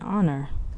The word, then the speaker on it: honor: an with words that begin with the silent letter H for example an hour an honest child and honor however hospital has a